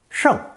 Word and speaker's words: 圣: This combination is pronounced fourth tone, 胜, 胜, with the purple element